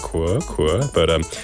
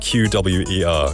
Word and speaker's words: QWER: in between the things so I was like qu but um I think it's hang corrected me saying it's pronounced qw we e r kam for that I remember I'll remember that